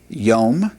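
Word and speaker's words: יום: This would be pronounced yom which means day veom and a day hyom which means the day.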